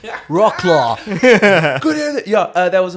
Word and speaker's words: Wrocław: It's Wroclaw. good evening. Yeah, that was Apocalyptica. These Finnish guys. Good evening, Wroclaw.